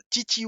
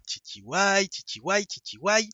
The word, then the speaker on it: TTY: Alors, TTY, oui, je prononce à l'anglaise.